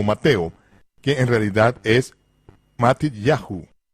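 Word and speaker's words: Matityahu: En hebreo los nombres tales como Mateo, que en realidad es Mat Yahu, con el acento en ya, como es el caso en todos los nombres hebreos, no es Isaías, es Yesahu.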